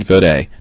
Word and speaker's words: Fodé: September 18th all that and more with fod check it out this is fod I had to find out how to officially